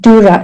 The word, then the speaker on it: Dura: We pronounce it Dura. It's two syllables. The first syllable is the syllable du.